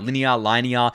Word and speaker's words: Linea: Hopefully I'm saying that right. Linea. It looks like it's spelt linear, but someone will correct me if that's wrong.